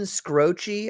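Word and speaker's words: Skroce: Steven Scroce, I think is his is his name. The way you pronounce it.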